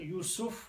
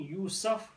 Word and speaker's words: Yusuf: a non-Arab name, and three ways the scholars say you can pronounce it: Yusuf with the Dhamma on the scene, Yusuf with the Fatha, or Yusuf with the Kasra. Three are fine, and that's how they're actually said.